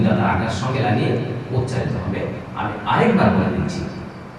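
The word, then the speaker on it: ح: শিক্ষার্থী বন্ধুরা, একে একে কয়েকটি হরফ আমরা শিখে নিলাম। আমরা স্ক্রিনে যে হরফটি দেখতে পাচ্ছি, আমি এটা এখন আপনাদেরকে উচ্চারণ করে দেখিয়ে দিয়েছি।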